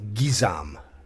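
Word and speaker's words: guisarme: another one bill guisam it's Bill gizam gizam it's not GUI it's French again I'm hoping like Canadian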